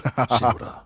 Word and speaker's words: Shimura: Lord Shimura.